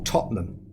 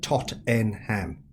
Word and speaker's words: Tottenham: Yeah, I come from a place in England that we call Tottenham, but the way it's spelt, all Americans call it Tottenham.